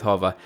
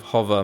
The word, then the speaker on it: Hover: And I know my Australian pronunciation of hover might have you foxed, so that spelling is HOVER, like a hovercraft, .com, and then use